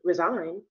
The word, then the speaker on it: resign: Like for example, an insert letter, the G in resign, you can't hear it. But the G in resignation, you can hear that.